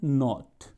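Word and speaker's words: nought: Spelling होती है NOUGST, इसे बोलते हैं नॉट।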